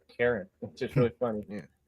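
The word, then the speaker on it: Charon: I said that wrong the ferryman was Karen that was the actual name it's spelled like Sharon c-h-a-r-o-n but it said Karen which is really funny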